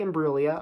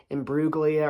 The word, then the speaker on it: Imbruglia: floor kind of like how they would mispronounce her name because her name is kind of a little unusual so Natalie IM brua although a lot of people would say rugia or burli or something like that especially in the United